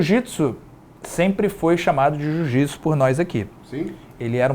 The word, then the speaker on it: jiu-jitsu: era um pouquinho diferente não sei se era jutsu jutsu era sem ue no antigo é mas a gente pronunciava isso com ih acabou ficando jiu jitsu quando a gente foi